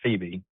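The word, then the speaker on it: Pheba: Hebron Christian in Phoebe, Mississippi, and yes, it's pronounced Phoebe.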